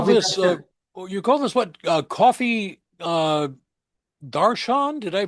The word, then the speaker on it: darshan: Coffee darshan? Did I pronounce that correctly?